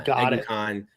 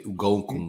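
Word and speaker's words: Eguakun: Egukan. Egukan, that's how you said it? Yeah. Egukan. Kingsley Egukan. I definitely said it wrong on the roll. I say Ugokun or some shit. Yeah, no, that's very wrong.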